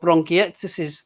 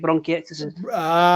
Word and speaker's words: bronchiectasis: I've got a lung disease called bronchiectasis. That's how you say it, bronchiectasis.